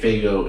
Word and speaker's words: Faygo: It's pronounced Faygo. Faygo, yeah.